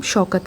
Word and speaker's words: शौकत: Okay, अब ये जो यहाँ पे दिख रहा होगा आपको पुलिस वाला है, और पुलिस वाले का नाम शौकत रखा है, शौकत, टी साइलेंट, शौका, ठीक है।